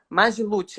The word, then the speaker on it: Magiluth: Lucas é um dos membros fundadores do grupo magiluth assim que pronuncia mesmo mas mas hoje sendo responsável pelas